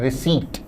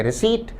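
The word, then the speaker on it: receipt: शब्द का उच्चारण है रिसीट। शब्द रिसीट का अर्थ है प्राप्ति या रसीद। शब्द रिसीट में पी साइलेंट होता है। इसका उच्चारण है रिसीट।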